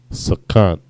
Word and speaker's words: sakan: Unprofitable or something that is not beneficial to you is sakan. Sa, ka, and na, sakan. Next word.